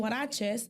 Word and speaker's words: huaraches: So I was like, I initially started selling huaraches, and huaraches is spelled with the H, the H sound.